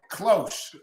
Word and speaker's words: cloche: So Planton says it's cloche, and it's a garden protective thing. Yes. There. Okay, cloche. Cloche. I was probably pronouncing that H a little hard, but it's okay.